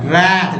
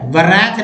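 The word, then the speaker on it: wrath: रैथ जिसमें W को silent रख दिया गया है, ठीक है, वरैथ नहीं पड़ेगा, रैथ।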